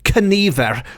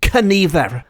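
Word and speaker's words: cynifr: one calls out what what I'm taken to be canver it is spelled slightly differently in the book it's been anglicized to c y n i v e r but I'm taking that to be c y n i f r because in the Welsh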